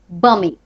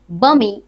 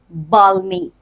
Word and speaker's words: balmy: Bummy. Here L is silent. L এর কোনো উচ্চারণ নেই. So always remember that it is bummy and not balmy.